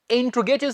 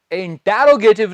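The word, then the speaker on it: interrogative: नेगेटिव के बाद चलते हैं स्टूडेंट्स इंट्रोगेटिव सेंटेंसेस की तरफ। क्या कहा, इंटेरोगेटिव नहीं, प्रश्नवाचक इंग्लिश मैं हर लेक्चर में बता रहा हूं, इंट्रोगेटिव।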